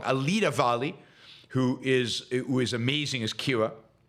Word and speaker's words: Alida Valli: Alida Valli, who is amazing as Kira.